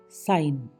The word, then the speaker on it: sign: SIGN, साइन, साइन, सीधा जी गायब, चिन्ह।